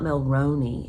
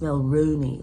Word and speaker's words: Milrooney: name wrong I've been saying well Roni and this person said no it's not milroni it's Mill Rooney like in the end of kangaroo so I'll make sure